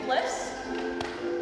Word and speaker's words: Bliss: fit my name is bliss with a hyphen that's spelled b oh I Essence definition perfect happiness great joy it's not Liz it's not crisp it's not short for